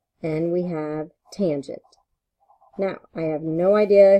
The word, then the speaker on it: tangent: And then the last one is tangent, which we use T-A-N, but that is pronounced tangent.